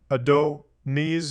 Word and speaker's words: Adonis: yanana and demusid the Greek name Adonis a donus Greek pronunciation Ado knees is derived from the